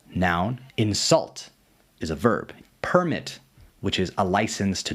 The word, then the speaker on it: permit: In a lot of two-syllable words, if you emphasize the first syllable, it makes it a noun, and if you emphasize the second syllable, it's a verb. first syllable, noun, second syllable, verb.